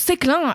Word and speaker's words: Séclin: Séclin, qui se prononce Séclin avec un E sur le E.